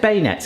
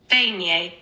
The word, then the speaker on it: beignet: - That is 100% bay nets, innit? 100%. - Beignet. - Beignet.